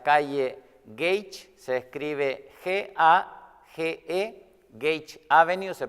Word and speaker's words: Gage: Nuestra dirección es el 6542 de la calle Gage, se escribe G-A-G-E, Gage Avenue, se pronuncia Gage en inglés, Gage Avenue en la ciudad de Bell Gardens, California.